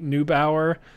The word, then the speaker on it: Neubauer: is uh luisa marie neubauer i think that's it yeah i think new bower is the way to pronounce that and um they she